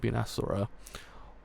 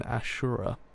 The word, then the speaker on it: Asura: If you were a god, you'd be an Asura, or as we pronounce it in Japanese, an Ashura.